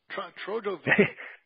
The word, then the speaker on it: Trotsky: His real name was Trojovski. Trojovski. Yes, Trojovski is how the Czechs pronounce it, the Bohemian.